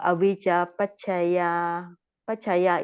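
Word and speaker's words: avijjāpaccayā: Like in the dependent origination, you know, the avijja pachaya is long A, right?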